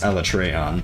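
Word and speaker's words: Alatreon: My favorite was when Elatrion came out, which they pronounce Elatreon, but when Elatrion came out in World, that was really cool.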